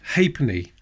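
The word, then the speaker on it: ha'penny: And there's a hapney. A half penny. I'm not saying hate me as some people think. It's hapony. Hapony.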